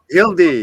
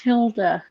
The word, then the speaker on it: Hilda: Hildy. Hello. Did I get that wrong? Hildy, I'm sorry. I changed It's pronounced Hilda.